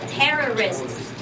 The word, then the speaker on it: terrorists: That's terrorists. First syllable, terrorist.